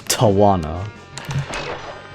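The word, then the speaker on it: Tawna: Some people pronounce it as Torna, some people pronounce it as Tana, some people pronounce it as Tawana.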